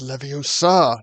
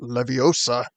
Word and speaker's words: Leviosa: limited magic ability here it's Leviosa not Leviosa um so um seeing